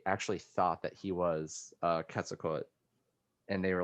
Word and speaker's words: Quetzalcoatl: I think you can say it with or without the L, but yeah, So- it's definitely it's not Quetzalcoatl.